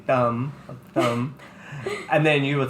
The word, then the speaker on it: Tâm: Tam cuz it sounds enough like Pam or Tammy whatever so I'm always tamle and then moving